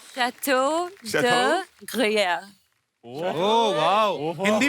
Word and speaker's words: Gruyère: Jacqueline ने pronounce it. Jacqueline क्या नाम है इसका? Gruer. Chateau de Chateau? Gruyère.